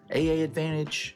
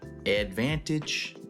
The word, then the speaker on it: AAdvantage: AAdvantage, AAdvantage. and you just silent the first A.